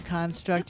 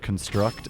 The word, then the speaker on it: construct: So in English, verbs are last syllable stressed, and nouns are first syllable stressed. Really? So you build a construct or you construct a building.